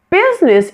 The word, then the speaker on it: business: Business is another one of those words that has a missing middle syllable. The I in the middle of the word is not pronounced at all and this word becomes two syllables. It's business. Business.